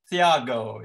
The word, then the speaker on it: Thiago: name please is it you pronounce the th as a third sound is that thiago is it uh either could be yeah could be uh but no in portuguese the age is silent yeah i thought so